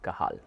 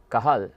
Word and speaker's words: Cajal: works of Santiago ramoni kahal the name kahal is spelled c a j a l but is pronounced kahal kah that is how